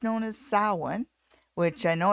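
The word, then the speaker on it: Samhain: Dead uh in Pagan circles it's known as salwan which I know it's spelled Sam Hayne but it's pronounced saw one and uh the the idea of putting masks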